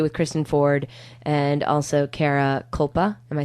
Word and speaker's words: Kara Kulpa: Again, we're in studio with Kristen Ford and also Kara Kulpa.